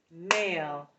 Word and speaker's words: male: write it please foreign why do we have a silent e what are our red markings is it the vowel sound change is because of the e that's right so what